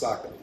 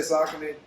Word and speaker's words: Saucony: So, yes, for anybody that doesn't know, Saucony is actually pronounced Saucony. It's not personal, guys. If you culturally wants to continue to say Saucony, I'm not going to be the black person to stop you.